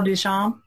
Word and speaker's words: Duchamp: you say that artist name it's Marcel Marcel Duchamp there we go Marcel Duchamp Duchamp and there